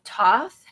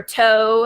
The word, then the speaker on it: Thoth: The cards that I've been using for over 20 years are known as the Aleister Crowley deck of Thoth or Toe, however you want to pronounce it.